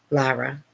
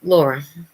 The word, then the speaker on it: Lara: And then my older daughter, her name is Lara, Lara, but people pronounce it Laura.